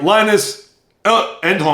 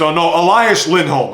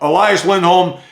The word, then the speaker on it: Elias Lindholm: Of course, they had some guys leave and one Jake DeBrusk, but they also brought people back like Linus Endholm.